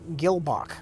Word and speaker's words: Gehlbach: I go back yes rich you pronounced it right last time which is Gil Bok Gil Bok Gil Bok